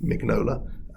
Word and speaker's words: Mignola: actually double checked yeah my my instinct is to say mignola like uh sort of italianize it but uh according to wikipedia um this is my his name is mig nola that's how it's pronounced uh after that so